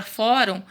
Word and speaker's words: fórum: fórum significa a palavra fórum ela é uma paroxítona né paroxítona porque que ela paroxítona porque ele era ó fórum qual que é a sílaba tônica dela não é só que a penúltima sílaba então por isso que